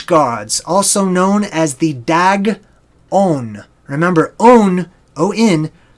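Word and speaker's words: Dagon: also known as the dag own a number own Oh in in ancient languages means of thee right so the dog own da G is pronounced just like the animal dog okay aaaghh the dog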